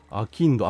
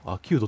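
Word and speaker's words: 商人: アキンド、アキウド、アキウドって読むの。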